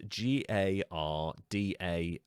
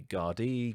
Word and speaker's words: Gardaí: It's spelt Gardai with a weird circumflex thing. Some people pronounce it Garda. Some people say Gardaí, Gardaí. I'm going to say Garda just for the sake of ease, because Irish, the Irish